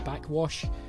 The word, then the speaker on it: Backxwash: I've also lately been digging an artist called Backwash. That is spelled Backxwash, so backswash if you like, but it is actually just pronounced backwash.